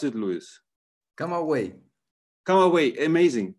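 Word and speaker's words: Camagüey: you pronounce it luis come away come away amazing come away i mean it's not written like that but it's come away so he went away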